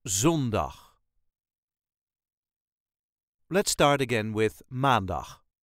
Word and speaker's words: maandag: Let's start Again with maandag as with all the days of the Week The emphasis Is Always On The First syllable maandag maan dag maandag maandag